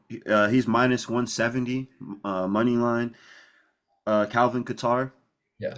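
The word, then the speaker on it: Calvin Kattar: Calvin Qatar.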